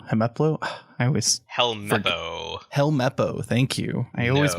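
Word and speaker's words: Helmeppo: i or are you a fan of uh hemeplo hemaplo i always helmepo thank you i always mispronounce his name the little uh kid who's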